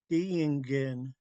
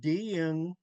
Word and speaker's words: Diingen: So it could be Diingen, like it's spelled, or you could pronounce it like there's two I's.